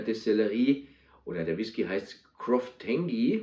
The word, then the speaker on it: Croftengea: oder der Whisky heißt Croftengi oder Croftengia. Also ich glaube, Croftengi spricht man es aus, ist die rauchige Variante von Loch Lomond.